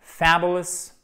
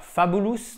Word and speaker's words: fabulous: vous abonner à cette Fabulous, accent tonique sur la première syllabe, c'est marqué ici, avec un A court, d'accord? Faites bien attention, c'est pas fabulous, non, c'est fabulous.